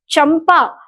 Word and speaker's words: चंपा: चंपा, जब मैं इस शब्द का प्रयोग करती हूँ तो बहुत स्पष्ट है कि चंपा कहते समय चंपा मैं म का उच्चारण न किए बगैर मैं आगे नहीं बढ़ सकती।